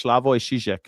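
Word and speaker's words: Slavoj Žižek: Slavo, I think it's Slavo Shijek, I think is how you say his name.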